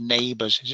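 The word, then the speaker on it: NABERS: Now, the Australians have a really good system called Neighbours.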